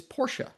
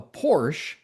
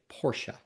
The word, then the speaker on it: Porsche: So the first thing I own I I learned was the proper pronunciation is Porsche. He said that if you call it a Porsche, that is a very quick way that he can tell if you're an enthusiast or not.